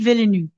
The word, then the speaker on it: Villeneuve: Denis Villeneuve.